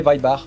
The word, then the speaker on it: Weinbach: Moi je l'aurais prononcé Weibar, mais bon.